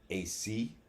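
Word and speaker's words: aos sí: Now, the pronunciation of AOS space SI that I saw was AC. For me, it would be the Aus C. Yeah, well, that's modern English pronunciation. That's not necessarily the way they pronounced it then.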